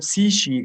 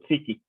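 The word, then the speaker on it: ⲯⲩⲭⲏ: So here, Psishi, of course, that's why you say Psishi, not Psiki, because K will be pronounced as Ch in Greek.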